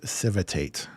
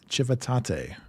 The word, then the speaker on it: Civitate: as an American my mind says this as civitate of course but apparently the Italian St too right surely apparently the Italians are strange and the correct pronunciation is chivate so the Battle of chivate chivate yeah so